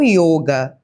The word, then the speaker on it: yoga: berga é a Índia, lá não tem eh essa pronúncia de o aberto, é sempre com o fechado. O sânscrito ou hind é com o fechado, não o aberto.